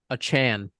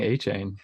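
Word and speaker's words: Achane: they are like um a Chan that's how you say it he he he the guy tweeted himself Devin Devin a Chan I thought it was 18. everyone was saying a chain yeah but he he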